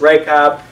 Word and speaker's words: Rahab: bo s of Rahab that's rake up and that actually would be how you would pronounce in it that would be a pretty good transliteration how Rahab and who